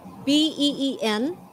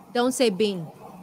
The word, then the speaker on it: been: Còn cái chữ bin á, B-E-E-N, is pronounced been. Been. Không phải là been nhá. Không phải là been. Mặc dù mình spell là B-E-E-N, nhưng mà pronounced là been. Giống như cái tên bin á. Okay? Been. I've been studying. Yes, that's very good. That sounded good. Don't say bean.